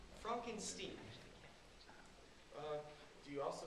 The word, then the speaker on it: Frankenstein: meet you i'm edward that's frankenstein i beg your pardon my name it's pronounced frankenstein uh do you also